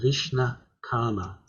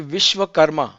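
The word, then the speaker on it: Vishwakarma: says they're the same sorry john i just wanted to correct it's actually vishwa karma yes that's all right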